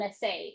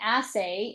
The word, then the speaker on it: assay: they test for is called an essay. Is that correct? An assay. Yes. Assay. And that's spelled as ss s a y.